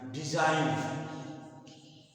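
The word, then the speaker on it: design: होता है क साइन जी लिखा जाता है लेकिन इसका उच्चारण नहीं होता डिजाइन इसमें जी का प्रयोग नहीं होता डिजाइन और फिर सपे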